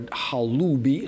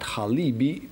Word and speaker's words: Halubi: And you remember that we already talked about that, the tribe of Halibs, which actually were Halubi, not Halibi, because you can see it's spelled in Greek through epsilon.